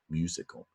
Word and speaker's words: musical: When you says you say musical. The stress on the first syllable, musical, musical.